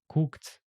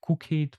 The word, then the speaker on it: cooked: You see, it's better to try to pronounce them like t or d. Booked, arrived, played, looked, cooked, and so on. So we don't say like cook it, play it, arrive it. It sounds really strange actually.